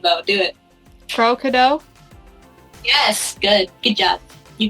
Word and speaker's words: CrowKadow: plug your channel i want to see you pronounce my channel name though do it pro-kado yes good good job you get a cookie